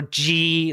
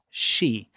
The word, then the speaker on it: Xi: Stop saying President Xi or G or whatever. It's she, like S-H-E, she. Like, you know, he, her, she, him, them, whatever. She. President Xi.